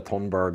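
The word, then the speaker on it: Thunberg: does it Greta Thornburg I think Western Greta tonburg is how we pronounce it yeah you're saying it properly yeah so grieta came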